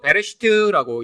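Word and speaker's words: בראשית: 자, 창세기는 원래 히브리어로 베레시트라고 읽습니다.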